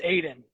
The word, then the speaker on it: Aodhan: It's just Aodhan. It's just spelled a little differently, the Irish way.